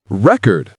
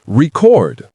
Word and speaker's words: record: Same goes for record. Noun, record. I broke a record. Verb, record. I'll record a video.